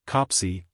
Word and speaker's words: Coplesey: Indeed, the bishop often stayed at Coplesey, pronounced Copsey, Hall, Lord Beamy's place in the west.